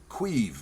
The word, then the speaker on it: Caimh: I first came across this writer when he was still Queeve McDonald, spelled Queeve, Irish pronunciation.